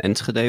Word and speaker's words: Enschede: Well, it starts basically in Enschede, which is a city in the Netherlands, small city, very boring.